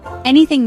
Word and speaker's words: anything: Anything means any object, event or situation. Example, you can ask me anything. It is a three-cllable word. Stress is on the first syllable.